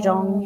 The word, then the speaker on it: 钟: 钟, Zhong.